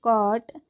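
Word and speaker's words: caught: है क्या पढ़ेंगे इसको क और टी जीच जो होता है वो साइलेंट होता है मैंने कई स्टोरी वाली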